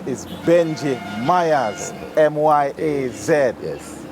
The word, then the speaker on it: Myaz: The artist name is Benji Myaz, M-Y-A-Z. Yes. How that? Spell it.